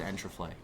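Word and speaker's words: Enterplay: play entrepreneur and traffic am i saying that right enter play yes it was enter play sorry andrew flay if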